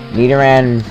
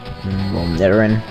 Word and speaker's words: Nidoran: Nidoran male. That's, it's poison type. Get ready for one-hit kill city. Nidoran.